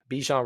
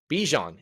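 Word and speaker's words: Bijan: But my guy Bejan Robinson, Bejon is his name apparently. Uh there was a whole stiff and stickler. I'm a big pronunciation guy and it really killed me when it was like oh no it's actually Bjon and I was just like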